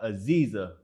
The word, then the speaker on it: Aziza: Today, we have Aziza. I pronounced it right, correct? Yes, Aziza.